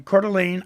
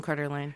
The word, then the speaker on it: Coeur d'Alene: And the winner of that is Denise Tootin from Coeur d'Alene, Idaho. Coeur d'Alene, Idaho? Wow. Yeah, Coeur d'Alene. Excellent. Coeur d'Alene. You spell it C-O-E-U-R and then space and then a